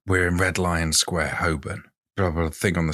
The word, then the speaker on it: Holborn: now carry on okay also I think it's pronounced Holborn but carry on set the scene we're in Red Lion Square Hoban probably a thing on the screen blah blah